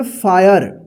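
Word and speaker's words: fire: देखिए एफ आई आर ई इसको क्या पढ़ेंगे फायर क्या पढ़ेंगे फायर तो ध्यान रखिएगा कि यहां पे दोनों वर्ड्स में अ उच्चारण हुआ है क्या हुआ है अ और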